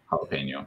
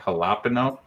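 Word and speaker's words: jalapeño: no on a stick i know it's jalapeno but uh that's how you say it right jalapeno yes my computer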